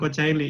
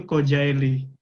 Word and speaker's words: Kocaeli: Kayak misalkan tadi Kak Melan Kocaeli, sebenarnya bukan Kocaeli, itu Kojaeli yang betul.